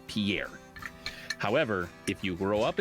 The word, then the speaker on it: Pierre: Yeah, Pier. That's how they say it.